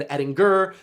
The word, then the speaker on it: Edinger: My name is actually supposed to be pronounced Evan Edinger.